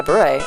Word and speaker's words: beret: I get a different flower in my beret every month. See, I said beret this time. See, that's how time I pronounced it right.